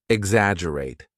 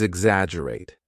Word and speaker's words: exaggerate: Word number 7 is exaggerate. Now, repeat after me. Exaggerate, exaggerate. Remember, there is a double G in the spelling, but we do not pronounce the G strongly.